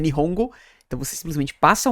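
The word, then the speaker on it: 日本語: Então existem locais em que Nihongo na verdade se lê Nippongo.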